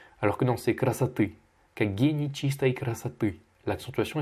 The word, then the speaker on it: красоты: Tu as mal prononcé, tu as dit красоты. Alors que non, c'est красоты.